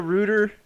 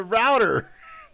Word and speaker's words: router: but are you serious you call it a rooter are you are you serious you're calling it a router it's a router it's a router ah oh my god it says it in the word router oh my god okay